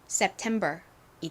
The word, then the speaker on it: September: 소리납니다 그래서 연결해 보면 September이 됩니다 sept 자 발음 따라해 보세요 September September 좋습니다이 단어는이 템 부분에 강세가 있어요 한 번 더 해볼까요